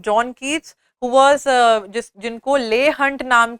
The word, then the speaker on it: Leigh: Then we have John Keats, who was जिनको ले Hunt नाम के राइटर जो थे, who was a periodical manage करने वाले एडिटर भी. ले हंट, LEIGH हंट. ले Hunt used to call him Junkets, JUNKEETS.